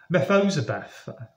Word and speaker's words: Mephibosheth: forgive me, I really don't know how to pronounce this, Mephibosheth. It's Mephibosheth.